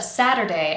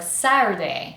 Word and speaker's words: Saturday: I really need to hear an audible d sadder. Sadder, sadder. The first two syllables are sadder. The first syllable is the strongest and we have the vowel sound a. That's the same a we use in cat. So, it's not like a Spanish a.